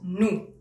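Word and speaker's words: nous: y el a continuación tenemos nu porque hay todas esas letras y ninguna se pronuncia porque así se francés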